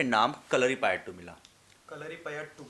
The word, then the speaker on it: Kalaripayattu: कलरी पया हां कलरी पया बोलते हैं लेकिन हमेशा हम टा और ट को वो जो एक साथ प्रोनाउंस टी का तो वैसे ही वो ट होता है कलरी पयातू होता है ट नहीं होता है ठीक है फर्स्ट